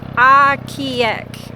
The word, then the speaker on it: Ocqueoc: It is pronounced Ocqueoc, if I'm saying it right. It is a Native American word, I believe.